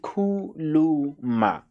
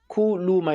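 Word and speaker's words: khuluma: So so yeah, so kuluma, speak, and how you say it, kuluma. Kuluma, you can say it slowly until you get used to it and say it faster, like kuluma, kuluma, kuluma, and relax on it.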